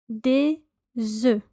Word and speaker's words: des œufs: So multiple eggs would be des œufs. Des œufs. Des œufs. As you can hear, there's a slight z sound, a z sound. That is a liaison between the s and the e. Des œufs.